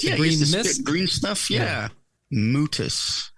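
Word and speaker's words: Mutis: spit green stuff yeah mutus how do you spell that m t i s it's like mucus but different pretty different let's see mutas four years in the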